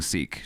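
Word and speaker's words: Sikh: we're beefing so uh sick is another way of pronouncing seek just FYI okay yeah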